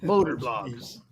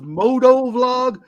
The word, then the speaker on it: motor vlog: And they do this moto vlog, but we all know that the right way to say that is motor vlog because it's a Harley motorcycle Davidson's Harley Davidson motor vlog.